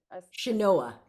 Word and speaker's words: Chenoa: reminded me I didn't tell you how to pronounce mine. And so I Yeah. apologize. It is Chenoa with a Chenoa. Chenoa, Chenoa.